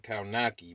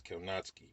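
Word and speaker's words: Kownacki: polish so you know polish their last names are pronounced much different than what they look like adam like adam kanatsky like when you see his last name you think it's adam you say you say his name is adam kawanaki but it's not as kelnotsky but just like that's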